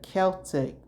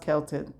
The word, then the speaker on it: Celtic: called Samhain and the Celtic people. And it's pronounced Celtic. It's not pronounced Celtic. It's pronounced Celtic people.